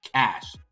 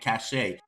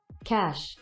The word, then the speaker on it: cache: guys like it's called cash why are they calling it cachet not only did they say once oh it's a mispronunciation they continued mispronouncing it right so this is how it's pronounced cash i don't care what